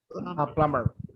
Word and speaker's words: plumber: The letter B is not pronounced plumber. Okay, great. Plumber.